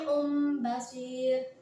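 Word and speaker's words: سميع بصير: Hai tali Om Basyir nah awalnya kan suaminya on Samiun tanwin dan Bachir tapi karena ini termasuk bacaan iqlab yaitu tanwin bertemu dengan Mbak Mbak di mana merupakan huruf iqlab maka cara membacanya harus ditukar dengan huruf mim kami Um Basyir seperti itu kemudian yang terakhir yaitu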